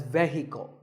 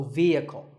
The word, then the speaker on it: vehicle: often pronounced wrongly as vehicle but the e is a long vowel and the H is silent so vehicle number eight is this